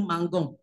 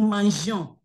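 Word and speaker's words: mangeons: Okay, because of pronunciation sake, you don't say no mangon. So you have to bring E to bring that what, flow, no mangion.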